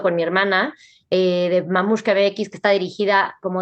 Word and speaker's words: Mamushka: Mamuska se escribe como se oye, o sea, m a m u s eh h k a mx.